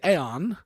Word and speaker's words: AEOX: this whole stream, but the letters are AEOX, which, like in the old cartoon Aeon Flux, I would say Aeon. So I'm going to call it AEOX as the artist.